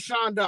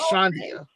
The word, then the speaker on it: Shandia: it but you know i'm called shonda all the time because that's the professional name that i chose but it really is pronounced shandia you know or chandia yeah okay okay yeah